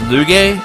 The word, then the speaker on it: Lugae: As the game said, it's pronounced Lugae, so that's where we fought him.